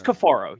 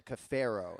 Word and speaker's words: Kafaro: It's Kafaro. You have it right. Let's go. So, yeah, they dropped a Caffero and I'm like, "Oh, shit."